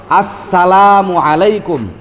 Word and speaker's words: আসসালামু আলাইকুম: শুদ্ধ সালাম হল আসসালামু আলাইকুম। আস এটা উচ্চারণ করতে হবে।